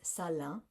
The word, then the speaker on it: Salaün: And so it is Salaün. So it's like in the back, Salaün. It's not Salaün. So, which, it doesn't look like that, the way that it's spelled necessarily.